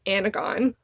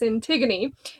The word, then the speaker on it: Antigone: And so this has Antigone, which I used to pronounce Anagon when I was younger. Anagon. That's how it looks. Isn't it? Anagon? It's Antigone.